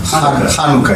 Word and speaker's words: Hanukkah: The way you pronounce it is Hanukkah or Hanukkah. Hanukkah is the way.